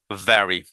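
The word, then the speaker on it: very: ভ্যারি, আপনি নিচের ঠোঁটটা উপরে দাঁত দিয়ে হালকা করে আলতো করে কামড়ে ধরে, মানে এমন কামড়াবেন না যে রক্ত বেরোয়, ব্যাপার এরকম না, জাস্ট কিডিং। দেখেন আপনার সামনে দুটো দাঁত দেখা যাবে, রাইট? ইটস ইটস এখান থেকে সাউন্ড আসবে ভ্যারি।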